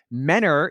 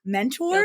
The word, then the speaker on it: Mentor: You always know the people that really aren't from up there that they say Mentor, Guilty. Ohio. Yes. Which is fine. Guilty. It looks like Mentor, but it's Mentor.